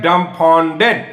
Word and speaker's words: dumbfounded: जैसे देखिए इसको में क्या है कि 3 टुकड़े में इसका उच्चारण है, इसमें थोड़ा गौर फरमाइए, डम्बफाउंडेड।